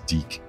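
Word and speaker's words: DiC: took over the series yes deck that's the way it's pronounced he was in there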